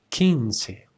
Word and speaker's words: quince: When you see this combination, you just mute the U and it sounds as ki, as in quince, quince, quince.